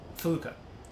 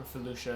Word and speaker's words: felucca: Felucca or Felucia, depending on how you say it.